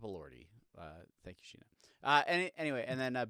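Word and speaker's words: Elordi: Uh, Jacob Allorti from Frankenstein, who uh, fun fact, my wife cannot say his name correctly. Uh, she's Jacob Loridi. Jacob Lordi. Uh, it's Jacob Lordi.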